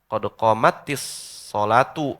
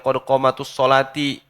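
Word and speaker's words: قد قامت الصلاة: Asalnya qad qamat as-sholatu karena tak apa namanya iltiqa'us sakinain bertemu dua sukun maka yang awal dikasrohkan. Qad qamatis sholatu, sholatu jadi fa'il.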